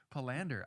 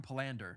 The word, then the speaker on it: Palander: Palander. Okay, that's good. You know when you say someone's name wrong for so long, it's like you almost just don't want to say it the proper way now.